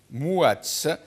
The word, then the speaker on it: Mouatz: Depuis l'Algérie, depuis Mostaganem, je crois, Mostaganem, Mouatz, je rappelle à la régie que Mouatz s'écrit avec M-O-U, Mouatz, écrivain, auteur, journaliste qui est avec nous.